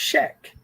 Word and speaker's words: Hek: Hek is pronounced Shek.